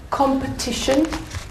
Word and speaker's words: competition: And the word competition. Where's the syllable? Where's the strong syllable? Competition. Competition. Very good.